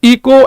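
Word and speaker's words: echo: इसे आप इको एकको जो भी कहना चाहो आपकी मर्जी है। सही प्रोनाउंसिएशन एकको है। इको कह लो कुछ नहीं फर्क पड़ेगा।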